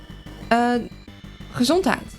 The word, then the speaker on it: Gezondheid: Gezondheid.